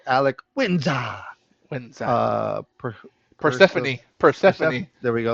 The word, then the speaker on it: Persephone: when's Per, Perse- Persephone.